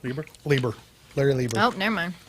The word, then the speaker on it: Lieber: yeah, that was with Jack Kirby and Larry Lieber, I believe is how you Yes, Lieber. you're right. Lieber.